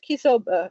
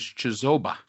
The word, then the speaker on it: Chisoba: Excellent questions, Kisoba. And I'm I am sorry if I am mispronouncing your name, Mark Scott. All right. So, first of all, the pronunciation is Chisoba.